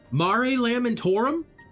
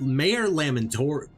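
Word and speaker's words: Mare Lamentorum: That's how it's pronounced. Mari Lamtorum. I kept calling it Mayor Lamman. Actually, I kept saying Mayor Lammontorium.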